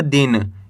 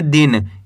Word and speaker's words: दिन: इस तरीके से आपको पढ़ना है, ज़्यादा खींच के नहीं पढ़ना। दिन। ज़्यादा खींच के पढ़ोगे तो बड़ी ई की मात्रा का उच्चारण हो जाएगा। इसको पढ़ेंगे दिन और इसको पढ़ेंगे दिन। तेजी के साथ आपको उच्चारण करना है दिन।